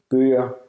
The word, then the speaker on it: Bøger: at the end of words, it's pronounced as a vowel. For example, Bøger.